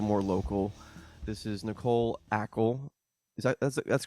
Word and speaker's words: Acle: local this is nicole ackel is that that's correct pronunciation of your name or not exactly actually okay it's cuban it needs to have that little accent at the end exactly okay so it